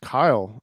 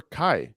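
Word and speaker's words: Caio: It's pronounced Kyle. I'm from Brazil. So remember before I said Chao Bezerra? It's Right. actually Yeah. pronounced Kyle or Kai.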